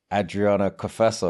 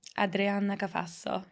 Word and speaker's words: Adriana Cafasso: to the next level today I'm joined by Adriana kaaso have I pronounced that correctly yes you have better than